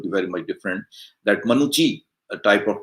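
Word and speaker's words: Manucci: Because she says that the name seems to be Italian, and in Italy or Italian language, double C is pronounced as cha sound, as we have some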